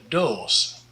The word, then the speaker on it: doos: De doos. De doos. The O here is a long O, and a long O in Dutch is O and not U.